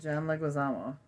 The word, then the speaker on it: Leguizamo: John Leguizamo.